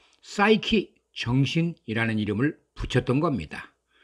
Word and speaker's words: Psyche: 를 어원을 통해서 알아보겠습니다 고대 그리스 식 발음으로 푸쉬 캐는 지극히 사랑하는 남편 헤로스 가 사라진 후에 에로스에 대한 그리움으로 끝없는 고통의 시달렸습니다 그리스 신화에 등장하는 푸쉬 쾌 가 바로 영어 싸이키 정신 이라는 단어가 된겁니다